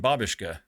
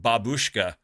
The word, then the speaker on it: babushka: lot like a Russian Babushka for those those non-russian speaking folks no it's not pronounced Babushka you're putting the emphasis on the wrong salel Babushka means grandmother in